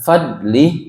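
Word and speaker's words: فضله: Huruf dad itu ee termasuk huruf istilla ya, yang ketika diucapkan pangkal lidahnya ee apa? naik atau terangkat sehingga bunyinya tebal sehingga bacaannya bukan fadlih tapi fadlih fadlih ah fainyatubu yaku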